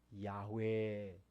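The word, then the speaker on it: 야훼: 발음이 돼서 후배들이 해봤더니 아마도 그 이름이 야외에 가까웠을 것이다 그래서 요즘은 야외 라고 부르기도 합니다 그 뜻은 여호와 하나님께서 모세에게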